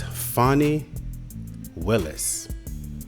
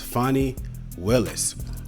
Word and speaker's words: Fani Willis: And this is a lovely lady, professional woman, by the name of Miss Fani Willis. I think I'm pronouncing this correctly. Miss Fani Willis.